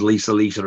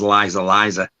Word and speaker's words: Lisa Lisa: That's Stephen Thrower who pronounces Lisa Lisa as Liza Liza. Liza Liza, yes.